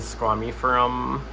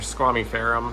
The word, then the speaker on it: squamiferum: Philodendron squamiferum, or squamiferum. I hear people pronounce that both ways.